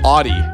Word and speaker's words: Audi: But that's pronounced Audi.